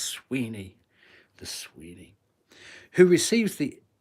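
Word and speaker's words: Suibhne: is I don't have to say it oh Sweeney it's spelled s UI b h n e s UI b h H NE e pronounced Sweeney the Sweeny who receives the epithet G gu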